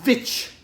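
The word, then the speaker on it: The VVitch: dark depressing horror movie it's the vic or the witch depending on how you want to pronounce it um which is a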